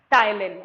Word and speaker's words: ptyalin: Here P is silent, so we pronounce it as ptyalin.